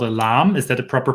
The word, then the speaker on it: lame: so it's it's spelled l-a-m-e and uh that's not pronounced lame no that means something else okay as far as